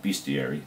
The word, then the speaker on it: bestiary: is called bestie airy no bestiary I always say mispronounced that it looks like it should be best theory but it's bestiary really like the picture